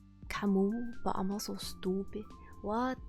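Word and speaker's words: Camus: Oh, I'm pretty sure it's pronounced Camu, but I'm also stupid.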